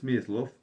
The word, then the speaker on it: Smyslov: So okay fate gave Miss Mislo uh accent on the second syllable advantages rare among Soviet players in the decades following the 1917 revolution.